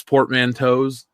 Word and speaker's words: portmanteaus: space horses or Spore PSA's and other space portmanteaus that's how you would say it right Natalie